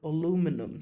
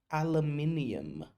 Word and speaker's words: aluminium: specifications for aluminum structures. یه چیزی بگم، این خیلی مهمه. این کلمه آلومینیوم، فلز آلومینیوم، تلفظ بریتیشش چیه؟ aluminium. تلفظ آمریکایی چیه؟ aluminum.